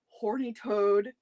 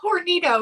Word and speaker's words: Hornitos: calls it this every time because she can't pronounce it. So all I know is she calls it horny toad tequila. I knew it's Hornitos.